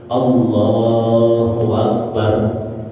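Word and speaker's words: الله أكبر: kadang-kadang tepesernya di sini dia menambahkan huruf wau bukan niat menambahkan karena dia malas buka mulut untuk mengucap Hamzah maka yang terjadi adalah dia mengucapkan wau sebagai ganti daripada Hamzah yang dia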